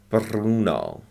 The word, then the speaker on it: Bruno: Okay, and Bruno, if it were pronounced American, but in Italian, in Spanish, they really roll their R's. Bruno.